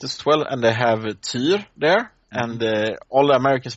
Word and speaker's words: Tyr: Yeah, it's like I play some Smite as well, and they have Tyr there, and all the Americans pronounce him, Tyr. No, it's not like a tear falling down your cheek. It's Tyr.